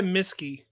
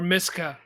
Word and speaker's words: Miska: Try Miski. I Okay. said that totally wrong. And then That's I tell you okay. how to spell it. Types in Miss Key. Or Miska. Try Miska. Yeah, that was it.